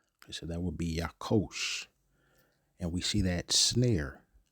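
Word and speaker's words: יָקֹשׁ: And that's let's see how that's pronounced. Strongs H3369. Yakosh. Yakosh. Okay. So that would be Yakosh.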